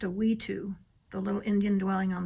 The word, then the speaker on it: wetu: Like that is called, it's pronounced a Wetu, the little Indian dwelling on the top left.